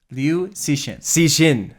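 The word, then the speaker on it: Liu Cixin: my favorite new author new to me was Leu sain or how do you say it go ahead leuin siin okay this is the author of The Three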